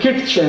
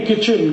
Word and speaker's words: kitchen: एक शब्द है किटचेन, KITCHEN, कहते नहीं किचन किचन किचन, फिर KIT क्यों लिख रहे हो? टी साइलेंट है, क्यों लगाया? हटा दो।